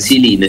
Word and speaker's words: Ziline: Siline se pronuncia, ¿verdad? ¿Así es el nombre? Exactamente, Siline.